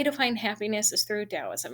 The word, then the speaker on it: Taoism: It is pronounced Taoism, Tao, not Taoism, kind of how it looks.